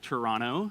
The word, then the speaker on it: Toronto: Toronto but it's pronounced Toronto no T at the end there yeah back in January